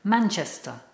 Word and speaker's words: Manchester: The pronunciation, don't forget, it's got a schwa at the end, so it's Manchester.